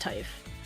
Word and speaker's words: Typh: potential dynamo coming from Pickwoman here from Typh or Tiff. Likely Typh is my guess, but oh yeah, you're right. Got the yeah, it's pronounced Typh.